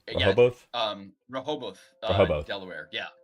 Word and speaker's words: Rehoboth: Am I pronouncing that right? Rehoboth? Yeah. Rehoboth?